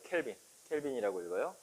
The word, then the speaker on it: 켈빈: 켈빈이라고 읽어요. 켈빈 클라인 아니에요. 켈빈.